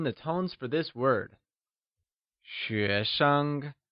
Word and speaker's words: xuésheng: xuésheng uses the mid rising tone on xué and a neutral tone (5th tone) on sheng Lets hear you say xuéshengOnce again, its xuéshenggreat!